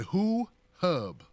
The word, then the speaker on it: HuHub: WhoHub is spelled HUHUB. You can Google it, and there's a 33-minute presentation. This is a very expansive software. You said Who Hub. WhoHub, that's right. HUHUB. HUHUB. Okay, well, thank you, Melissa, for the phone call.